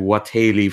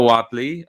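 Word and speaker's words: Whateley: we go all right i've been pronouncing what haley for most of my life that's probably incredibly wrong but yeah i ran into noah watley uh he of dunwick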